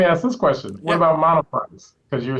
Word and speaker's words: Monoprice: Monoprice.